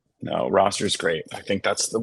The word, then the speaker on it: Rostr: There's a site called Roster. It's spelled Rostr.